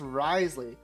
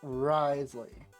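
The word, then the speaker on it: Wriothesley: characters in the story and his name is pronounced risely he's voiced by the Claud voice actor Jo Z oh oh okay Risley darn the French anyways don't don't worry we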